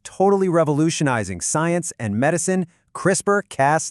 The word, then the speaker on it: CRISPR: Crisper cast 9. It's a gene editing tool that's frankly mind-blowing. And right off the bat, it's pronounced crisper.